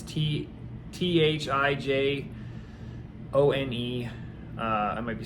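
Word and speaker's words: thujone: It's like thijon, it's Thijone.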